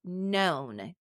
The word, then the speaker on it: known: have KN n right that silent k so the word is known KN n o w